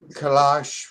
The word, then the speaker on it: Kailash: They want to know about your relationship to a place, I hope I can pronounce this right, Vaikuntha and the Kailash Mountain. There, Kailash, yes.